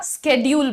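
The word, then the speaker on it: schedule: लोगों ने क्या किया शेड्यूल को छोड़ दिया स्केड्यूल बोलने लग गए स्केड्यूल तो अब मुझे लगता है कि यूएस इंग्लिश यूके इंग्लिश के साथ एक इंडियन इंग्लिश भी एक्सेप्टेबल होनी चाहिए बिकॉज स्केड्यूल भी गलत नहीं लगता सुनने में करेक्ट हम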